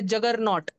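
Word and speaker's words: juggernaut: जगनोट तो एक वर्ड बन गया इंग्लिश में वो वर्ड है जगरनॉट। क्या नाम है? हम उसको कैसे प्रोनाउंस करते हैं?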